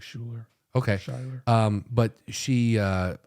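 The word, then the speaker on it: Schuyler: one more time s-c-h-u-y-l-e-r yeah it sounds like Schuler okay um but she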